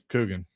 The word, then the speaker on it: Coogan: Coogan. Rhymes with Dugan.